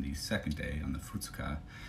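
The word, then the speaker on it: 二日: of the word, is second day, which is futsuka. And that's all lowercase, which means that it's all the Chinese borrowed words for it. So futsuka.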